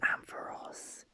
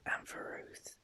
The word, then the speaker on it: Ampharos: I used to pronounce it Ampharos, but actually it's pronounced Ampharos. I actually like Ampharos better than Ampharos.